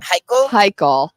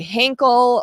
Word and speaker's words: Heichel: Heichel. It's Lane Heichel, and I kept wanting to say Henkel, or I don't know. I kept saying it wrong, and I kept thinking about it, going like, why?